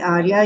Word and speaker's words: Aria: It's spelled a little bit differently but pronounced Arya University.